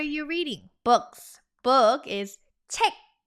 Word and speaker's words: 책: Book is 책. Like, when you have to check something, that's the same exact pronunciation. Check, check, check without the K at the end. So 책 읽는 거 좋아해요.